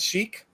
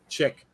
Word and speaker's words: Sheik: Did you pronounce that Sheik or Chick? Chick. Okay. Good choice, Jeff.